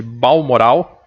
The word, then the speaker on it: Balmoral: Lá no castelo de Balmoral, é assim que pronuncia.